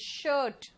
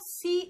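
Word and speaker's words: shoe: जूते जो होते हैं वो शूज होते हैं, एक जूता को क्या कहेंगे? इट्स शू। सू नहीं होता ये, इट्स शू।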